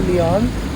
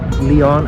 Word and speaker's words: Lyon: rage from the city he pronounced Leon as lion which kind of makes sense because Lon is like what Leon like Leon is named after lions like the animal lion so it would be pronounced lion right uh so please forgive